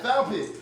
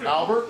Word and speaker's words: Albet: He'd be like, I'm not, it's Albet. That's how you say my name. The teacher would be like, it's Albert, not Albet. You can get it right through proper practice and conditioning. You'd be like, I am saying it right, it's Albet, you're just not listening.